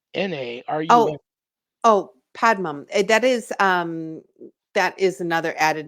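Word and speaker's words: Padanaram: You'll have to tell me how to pronounce that city. I'd never heard of that city before. Dartmouth? No, Padanarum. Oh, oh, Padmum.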